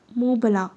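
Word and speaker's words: Mont Blanc: होने लगी मंट ब्लांक उसने नाम पढ़कर बताया मुंह बला अकब में घम गीर सी आवाज में कुछ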